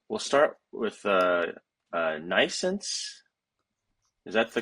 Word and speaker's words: NNAISENSE: So um we'll start with uh uh Nense. Is that the correct pronunciation? Or nence? It's it's pronounced nayense or like you know birth nense and um it's spelled in a different way.